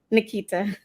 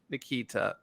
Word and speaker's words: Niketa: have a very special guest as we have niketa kalame Harris am I pronouncing that right Nikita Nikita thank you anyway today you may know Nikita